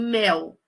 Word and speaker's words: mel: Então acentuação gráfica é simples a gente pensar em mel. Se você fosse se basear só no som, a palavra mel, que a gente escreve com L, não com U, apesar de pronunciar com U, a gente colocaria um acento, né, mé.